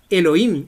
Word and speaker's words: Elohim: Miren, esta es la palabra Elohim. Se escribe E de España, L de León, O de oso, y H de hijo, I de iglesia y M de Marte.